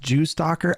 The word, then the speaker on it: JSTLK: It's pronounced Jew stalker.